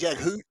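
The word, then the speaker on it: Jaghut: did he say it Jag hoot Jago is kind of what it sounded like like runs it on together real quick yes okay so I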